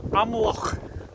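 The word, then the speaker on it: Amlwch: I'm in a place called Amloch. I've just asked a local and that's how you pronounce it.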